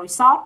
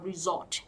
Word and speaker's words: resort: Mình hay đọc là resort, đúng không? Thực ra đọc là resort, âm Z nhá. Mình có từ là resort, resort để làm Z này.